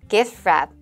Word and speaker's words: gift wrap: 써져 있는 단어는 gift wrap이라 써 있는데 ft를 자음색에 부닥치면은 가운데 트 발음은 아예 빠지고 gift wrap 하고 선물 포장 이렇게 들리겠죠.